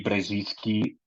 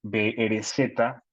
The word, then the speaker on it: Brzezinski: Eh, Zbigniew, Zbigniew, y Brzezinski, Brzezinski.